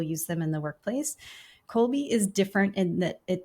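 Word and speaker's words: Kolbe: So, yes, I'm a certified Colby consultant. Colby is spelled K O LBE if you're looking it up.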